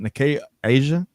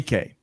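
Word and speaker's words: Nikkei: Greg check my pronunciation is it nay Asia nay nikay thank you I knew i' put the wrong empasis yeah on the wrong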